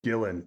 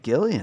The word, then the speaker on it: Gillan: I think Karen Gill I think it's pronounced Gillan though it is so it is Gillan I always thought her name was Karen Gilly that's so there's no